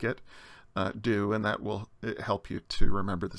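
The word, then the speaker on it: chi: the Scottish word law it's never pronounced CH as in church some people especially English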